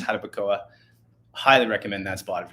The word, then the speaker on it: Jarabacoa: But yeah, highly recommend Jarabacoa or Jarabacoa. I think we say it like our English way. Yes. But I think it's Jarabacoa.